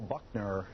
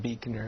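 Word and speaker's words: Buechner: them have bands Carl Buckner is that how you say it Carl it's actually pronounced Beaker and my band is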